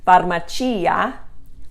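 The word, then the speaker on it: farmacia: cia as well but the accent is on the final eye varmacia you're you're going to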